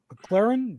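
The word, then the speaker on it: McLaurin: now aj brown debo samuel and terry mclaren mclaren that's how you say it all right yeah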